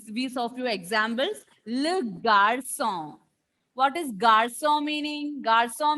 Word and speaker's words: garçon: half of 5, and the pronunciation of this symbol when come along with C will be sir, and the pronunciation, we saw few examples. Le garçon.